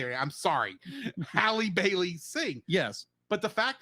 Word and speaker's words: Halle Bailey: I've never heard Haley Bailey sing. Yeah. How do you say it? I'm sorry. Halle Bailey sing.